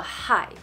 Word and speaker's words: HAI: 我这次呢跟大家介绍一下这个牌子，叫做 HAI，它是海的台语的发音。